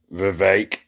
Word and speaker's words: Vivek: Vivek rhymes with cake.